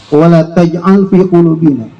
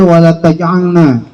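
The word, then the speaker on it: وَلَا تَجْعَلْ فِي قُلُوبِنَا: alladzina sabaquna bil iman wa la taj'al fi qulubina ghillan lil ladzina amanu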